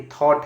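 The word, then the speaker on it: thought: पे आप जो है बात करते हैं य कि थॉट है टी एच ओ यू जी एच टी यानी कि जी एच हमेशा यहां पे साइलेंट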